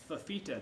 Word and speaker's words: Fifita: you in silver to sign it as tonga fifita did i pronounce that right yes perfect there you go